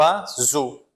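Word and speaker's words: oiseaux: O som do z e o x não pronuncia. Então aqui a gente tem o a, né? E zo, como se fosse um acento, um acento circunflexo do vovô, né? O azô. Tá muito bem.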